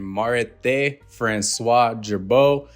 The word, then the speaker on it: Marithé François Girbaud: be none other than Mar Francois jbo and listen to this pronunciation if I said it wrong FR is how it said in French throughout this video when